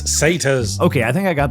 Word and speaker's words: satyrs: jar it's pronounced Anar say tires it's satas okay I think I